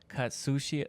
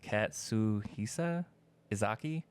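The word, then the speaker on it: Katsuhisa Ezaki: So, Katsushi, I can't say his name, it's Katsuhisa Izaki, the CEO of Glico, wasn't just a businessman.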